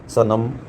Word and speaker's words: सनम: सनम, सा को अलग हम उच्चारण कर रहे हैं, लेकिन नम को एक साथ कर रहे।